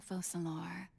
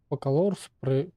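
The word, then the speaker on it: Focalors: But to answer your question, I am Fosalor. You know, the god. Ну, они Фокалорс произносят как-то Форсалор. Без К, именно Форсалор. А тут Фокалорс. Там Форсалор.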